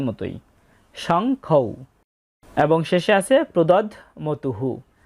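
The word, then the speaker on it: প্রদধ্মতুঃ: এবং শেষে আছে প্রদধমতুহু। এখানে ধয়ের সাথে ম যুক্ত অবস্থায় আছে, তাই ধটা অর্ধেক উচ্চারিত হবে প্রদধ, ম তয়রস্যু বিসর্গ।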